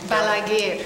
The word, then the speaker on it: Balaguer: How do you pronounce his name? Balaguer.